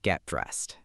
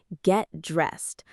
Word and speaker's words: get dressed: The T at the end of get softens when it's followed by another consonant sound.